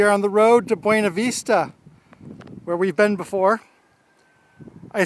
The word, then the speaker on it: Buena Vista: the buena vista ferry let me say buena vista here i'm going to pronounce the spanish buena vista last time i was